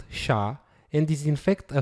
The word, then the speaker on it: SHA: for secure hash algorithm is pronounced sha and is in fact